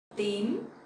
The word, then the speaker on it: tím: Tím, tím. So the T sound in Vietnamese you will pronounce more stronger and sharper, like tờ, tờ. So it's not t in English, okay?